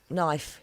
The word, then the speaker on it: knife: all up for example there knife yeah silent k oh yes there's quite